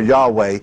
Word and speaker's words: Yahweh: why HWH which we either have turned into Jehovah or Yahweh depending on which Camp you're in either one would be accurate because it's taking the